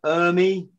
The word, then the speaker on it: Ermey: watch and watch and watch um lee uh ermey did i say his name right yeah yeah